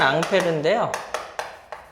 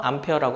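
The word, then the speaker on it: Ampère: 원래는 앙페르인데요. 영어식으로 발음해서 암페어라고 합니다.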